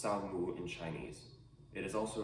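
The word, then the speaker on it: 扫墓: Tomb sweeping is pronounced Sao Mu in Chinese.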